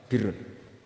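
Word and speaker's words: بِرّ: Ya kalau di isim failnya umumnya guru-guru kita baca barrin. Tapi untuk masdarnya, untuk kebaikan bacanya apa? Birun. Nanti kamu protes, "Oh, barun itu daratan, Gus. Kalau birun itu kebaikan.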